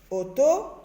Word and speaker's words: auto: Alors, auto, il y a U dans O, mais je n'entends pas U.